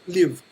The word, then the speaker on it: Lviv: So the city that you are in is Lviv, is that right? Lviv. Lviv. Lviv. It's Lviv, kind of like the English word live, but slightly pronounced differently.